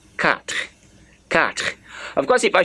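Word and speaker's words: quatre: I was saying cut how do you spell Q you a t r e so q u a t r e that is cut cut of course if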